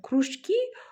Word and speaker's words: кружки: Слова отличаются ударениями и значениями. Кружки, кружки.